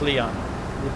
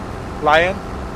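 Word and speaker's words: South Lyon: Lion? Lion. So you pronounce it Lion, okay.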